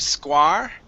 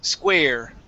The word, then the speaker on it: square: Instead of square, it's square. Okay, long A sound.